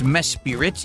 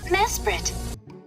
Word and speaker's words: Mesprit: It's Mespirit. It's pronounced Mespirit. Okay. Mesprit.